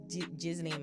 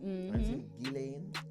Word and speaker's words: Ghislaine: Ghislaine. I not even know. Ghislaine. Yeah. At Chelsea, I never call her Ghislaine, it's Ghislaine. I think the S is silent.